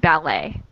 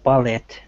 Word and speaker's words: ballet: So, in ballet, the T is silent, and in billet, it is not.